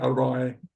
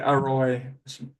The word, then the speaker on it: อร่อย: But it's so anyway, I was saying arroy. So they could say arroy, to say without the rolled R. Arroy, to use the rolled R. But often Thai people just won't even really pronounce the R.